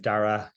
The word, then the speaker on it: Darragh: uh my name is Daryl um I'm going to just tell everyone how to pronounce my name now because everyone's rules it's Dara you can ignore the G and the H um I'm the CEO